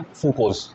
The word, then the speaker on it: fucose: इसकी प्रोनाउंसिएशन पे ध्यान देना, फ्रूक्रोज नहीं है, फ्रूकोज।